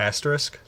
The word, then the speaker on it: asterisk: Asterisk?